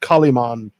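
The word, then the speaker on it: Kalimán: The emphasis the last a right.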